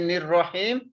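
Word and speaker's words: الرحيم: In the Nir-Rahim, we are not pronouncing Alif and Lam.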